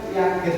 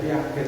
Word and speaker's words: Piaget: didik menurut pias tulisannya Piaget ya Piaget Piaget itu tapi jangan dibaca piaket itu nanti diketaw bacanya pias